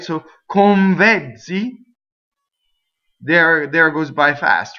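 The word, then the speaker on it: con vezzi: If I were to say these two words together, convezzi, convezzi. Watch my N. It goes on my bottom lip.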